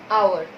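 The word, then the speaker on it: hour: अब आप कहोगे मैडम इसमें तो एच साइलेंट होता है, फिर हम ओ को देखेंगे, फिर हम एन लगाएंगे इस तरह से। चलो वो भी ठीक है आपका कि हमारे पास एच तो क्या है, साइलेंट, इसको हमने साइड ही कर दिया।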